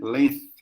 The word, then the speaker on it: length: Quer dizer comento chata da gente falar por causa do th, né? Colocar a língua entre os dentes, né? Length.